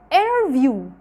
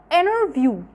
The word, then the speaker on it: interview: نمبر 1 لو التي جت بعد حرف ان، لو التي جت بعد الان مش بنطقها. زي ايه؟ زي هنا كده interview، interview حرف التي هنا جه قبلها ان، فبالتالي مش بينطقوها.